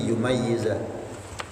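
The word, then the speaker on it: يُمَيِّزَ: Wa tasydid, ada juga yang membaca pakai tasydid berarti yumayyiza.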